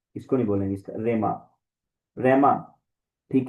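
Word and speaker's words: ῥῆμα: और रेमा, ये रो के ऊपर जब रफ ब्रीथिंग आता है तो उसका हम उसको सिंपली हम प्रोनाउंस करते हैं, हे के साथ नहीं करेंगे, ठीक है। रे, इसको रेमा ही बोलेंगे, हे नहीं बोलेंगे।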